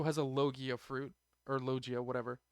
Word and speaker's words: Logia: And we've discovered that Ace also has a Logia fruit, or Logia, whatever. In Japanese, I believe it would be pronounced Logia.